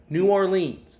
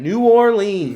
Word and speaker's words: New Orleans: No one says it like that down there. New Orleans. They say it like that. Every single one of them.